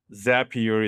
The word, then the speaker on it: Zapier: Zapier is happier. Um that's how they say it, Zapier.